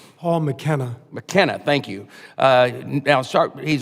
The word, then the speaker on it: McKenna: I was just trying to pronounce it correctly. Paul McKenna.